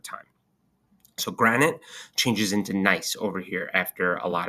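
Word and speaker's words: gneiss: So granite changes into nice over here after a lot of heat and pressure. That's how you pronounce it right there.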